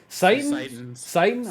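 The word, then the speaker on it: Citan's: How is the ramparts pronounced? Sighton.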